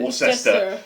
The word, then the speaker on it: Worcester: It's on the grounds of how Americans pronounce Worcester, isn't it? Yeah, Worcester.